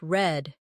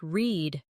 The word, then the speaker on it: read: Notice, the word read is spelled the same, but sounds different. Yesterday it sounded like read, but tomorrow it sounds like read.